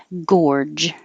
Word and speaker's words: gorge: And we started with gorge. So the first G sounds like a G, and the second G sounds like a J.